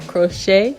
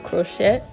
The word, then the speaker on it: crochet: crochet spring twist video yes I said crochet instead of clochette because on the last video I've mispronounced it and there were a